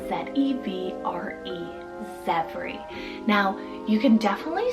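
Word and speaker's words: Zevre: It's the name Zevri, spelled Z-E-V-R-E, Zevri. Now, you can definitely spell it a few different ways.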